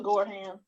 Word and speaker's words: Gorham: And I see that we have Angela Gorham. Am I pronouncing your last name right? Yes, that's correct, Angela Gorham.